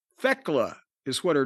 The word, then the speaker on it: Thekla: It's I thought it I was hearing Techla. It's Theckla. Thekela is what her name is. T H E K L A. Thekela.